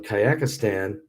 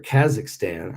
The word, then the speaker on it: Kazakhstan: schneider the archbishop of kayakistan or kazakhstan i said it right that time kazakhstan there is no yak it's kazakhstan no yakistan there's kazakhstan okay i got it